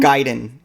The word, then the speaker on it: Ninja Gaiden: How did you pronounce Ninja Gaiden? Gaiden, yes.